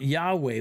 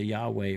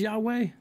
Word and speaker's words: Yahweh: up that's my job do you think it's wrong to pronounce it as yahweh yeah it's not as precise and you but you